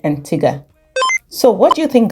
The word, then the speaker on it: Antigua: is this bit about the pronunciation of Antiga is it Antiga or Antiga because while we were there the locals called it Antiga so what do you